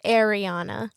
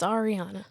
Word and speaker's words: Arianna: And then also, people always say Arianna. It's Arianna for me.